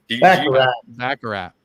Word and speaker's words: Baccarat: I don't know how to pronounce that, but carrot. Baccarat.